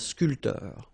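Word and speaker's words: sculpteur: not that difficult and scul sportif a a photograph a journalist all right so a bter same thing here this P here is not pronounced so scul and scoter spor so remember when you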